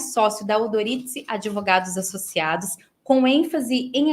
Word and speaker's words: Odorizzi: Mas a pronúncia italiana, em tese, seria Udoritse e Prioritse, né?